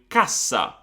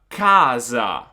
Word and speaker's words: cassa: So I just do cassa, cassa. And then I've got casa, casa. So cassa, casa, cassa, casa. As you can see, the previous A is a little bit shorter in the double consonant word.